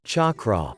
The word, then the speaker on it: chakra: The word chakra is a Sanskrit word that is spelled as chakra but pronounced with the ch sound as in church rather than the sh sound of the word shak.